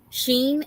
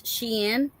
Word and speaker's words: Shein: So I've been saying it wrong this whole time, and now I'm learning that it's not Sheen, it's Shein, which in the spelling it Yeah, is Shein, but yeah.